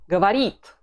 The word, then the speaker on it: говорит: Он говорит.